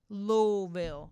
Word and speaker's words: Louisville: i ain't even finished that look she and she in little louisville that's how you say it louisville all right she said